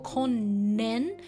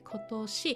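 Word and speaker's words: 今年: So kotoshi, but the pronunciation is like a little bit crazy. It doesn't go konnen, but it goes to kotoshi, even though it's a compound.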